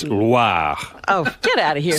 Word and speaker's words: Loire: Oh, I didn't Not roll the Loire. R. It's not LWA. Oh. It's Loire.